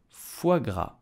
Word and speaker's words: foie gras: So how do we pronounce it correctly in French with a typical Parisian accent? You will say foie gras.